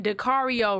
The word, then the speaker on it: Dario: you who don't know it's like Dario rhymes with Mario and he got the